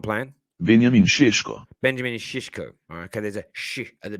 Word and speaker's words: Šeško: is the way they say you bring to pronounce it it's not playing why is it not playing i mean benjamin is shishko okay there's a at the beginning that accent